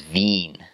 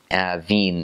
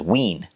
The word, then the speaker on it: Wien: well the word for Vienna and German is Veen Veen is how you pronounce it and in English it weirds are you thinking that says Wien because it's a w at the front but